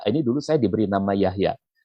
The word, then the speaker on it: Jahja: Yahya, ini dulu saya diberi nama Yahya. Nah, itu dibacanya semacam ini, Yahya. Kalau sekarang orang membacanya semacam ini. Tapi kalau sekarang nama saya yang semacam ini dibaca oleh anak-anak muda, pasti Jahja, bukan Yahya.